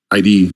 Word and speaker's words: id: some of the classic ID games back in the day, right? So, yep, awesome. And the correct pronunciation is everyone always gets it wrong. Everyone says ID.